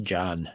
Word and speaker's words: Can: I think it's pronounced John, just so you know. You that, John? Oh, there you go. Is it? Yeah, that's right. It's weird Turkish spelling. It looks like Can, but it's John.